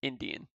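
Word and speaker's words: endian: stored in memory is known as Indian pronounced as like in India like a Native American Indian or byte order so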